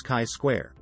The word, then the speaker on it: chi-square: The most important and most commonly used goodness of fit test is chi-square test, pronounced as chi-square.